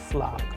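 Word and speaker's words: флаг: But in Russian sample word, we have exactly the same sound as in the word flag. Flag, which means flag.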